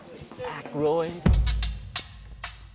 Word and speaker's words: Aykroyd: Chevy Chase, Gilda Radner, Dan, I ain't got, how the fuck do you pronounce this? Aykroyd.